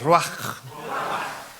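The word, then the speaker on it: רוח: sé si se pronuncia, no soy judío, pero se escribe ruach. Diga conmigo, ruach. No se escuchó hebreo eso. Dígalo bien, ruach.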